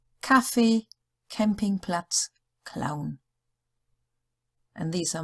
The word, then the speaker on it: Kaffee: Any other letters? It's just a K sound. Kaffee, Campingplatz, Clown.